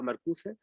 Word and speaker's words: Marcuse: En general, en alemán se pronuncian todas las vocales, ¿no? Entonces, si ahí dice Marcuse, es Marcuse, igual que en castellano, ¿no?